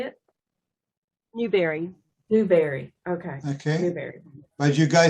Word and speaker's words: Newberry: Newberry.